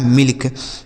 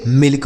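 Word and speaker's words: milk: तो देख रहे हैं ना, जब भी दो कॉन्सोनेंट के बीच में आई लिखा होगा तो उस आई का उच्चारण हमें छोटी की मात्रा कर देना है।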